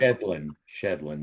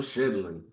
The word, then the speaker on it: Shedlin: So today for episode 125, I am here with the man named Allan Shedlin, right? Said it right. Shedlin, yeah. Allan Shedlin.